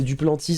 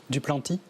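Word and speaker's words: Duplantis: Ben ouais, c'est du Plantis. C'est le sauteur de perche. Du Planty. Ah, en vrai? En vrai, je suis désolé. Ou est-ce que ça se prononce juste Planty? Le Ouais. S se prononce.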